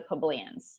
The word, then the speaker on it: plebeians: Why were the patricians frightened by the actions of the plebeians?